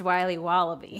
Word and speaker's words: Wiley Wallaby: Can I have a piece of that Willy Willoughby? Wally Wibbly. Wiley's Wallabies. Wallaby Wallies? Wilby Wallaby. It's pronounced Wiley Wallaby.